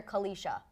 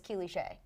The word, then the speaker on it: Kelisha: Someone has once called her Kalisha, and her name is Kelisha.